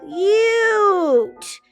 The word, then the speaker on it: cute: U with a silent E at the end, which makes this say it's you name, okay? Cute. Shh, that doesn't say anything. Cute.